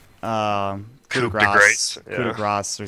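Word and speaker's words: coup de grâce: It's actually, it's pronounced coup de grace.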